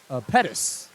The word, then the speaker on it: Pettis: not allowed or my my mistake it's Pettis would be the pronunciation forgive me all the